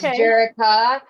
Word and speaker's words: Jerica: It's spelled like Jericho in the Bible, but it's Jerica.